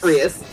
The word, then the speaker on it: Rias: Rias. Rias. Don't worry, Like- everyone struggles with this for some reason. Like Prius without the P.